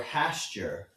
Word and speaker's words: Hastur: H is for Hasture. Oh, no. You said it. How do you say that? Yes. Hastur. Uh by saying his name you draw the attention of Hastur. You never say Hast.